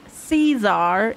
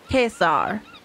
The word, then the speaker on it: Caesar: okay so it's not caesar it's kesar as well so the german kaiser is actually much closer to the proper way of pronouncing pronunciation that's why you